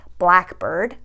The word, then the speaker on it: blackbird: So for example, if you have a word like blackbird, blackbird, you're going to stress the first part of the compound word.